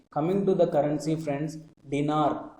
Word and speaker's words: dinar: Coming to the currency, friends, dinar. Dinar, its pronunciation is similar to dinner. Its pronunciation is similar to dinner. So try to remember dinar as dinner.